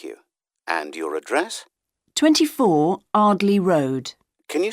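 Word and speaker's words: Ardleigh: 24 Ardley Road. Can you spell that?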